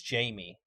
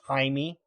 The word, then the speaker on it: Jamie: instead For for instance, Jamie is actually, if you pronounce it out, the way it's spelled is haimey. According to Google, it's got a Spanish pronunciation.